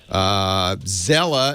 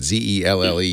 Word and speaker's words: Zelle: Zella is used by banks now. I don't know how you pronounce that. Zelle, Zelle.